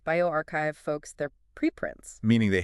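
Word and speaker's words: bioRxiv: A lot of these sources, especially the ones from Borc's pronounced bioarchchive, folks, they're preprints, meaning they haven't necessarily gone through the full peerreview gauntlet yet.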